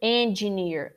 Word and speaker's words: engineer: well today okay so usually we say and engineering that's the mistake engineering or engineer is wrong near engineer what is the mistake first of all we have to say n n closing the n n not e engineer engineer